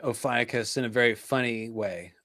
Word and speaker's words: Ophiuchus: Maybe the PH is not an F sound. Maybe that's why. Do you have any idea, Emma? Not the foggiest, I'm afraid. Greek pronunciation is not my. Ophiuchus.